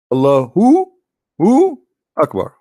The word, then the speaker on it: Allahu Akbar: So when a Muslim he says Allah, you notice he pronounced something. He say Hu Akbar, correct? Hu Akbar. But when they say it, but they don't write it. Hu Akbar. Allahu Akbar.